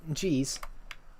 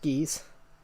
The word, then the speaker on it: Gez: Gez is pronounced G's. I know it's pronounced I know it's pronounced G's. It's not pronounced geese.